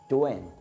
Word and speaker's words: doing: उस एक्सेंट के तहत क्या है कि जब कभी भी आपने आई एन जी के फॉर्म को एक साथ देख लिया तो उस वक्त जी जो है प्रोनाउंस नहीं होता।